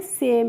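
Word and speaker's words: same: यानी कि ए और इ वोवेल सभी में सेम है।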